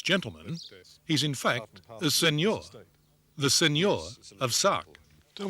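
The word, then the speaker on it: Seigneur: just an english gentleman he's in fact the senor the senor of sark tell me what is a signore and do i pronounce it properly yes it's a feudal title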